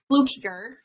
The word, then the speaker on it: Fluckiger: amazing enlightening conversation with my new friend helen blue kicker and i hope that i said that correctly because i people get my name wrong all the time so fluker yes that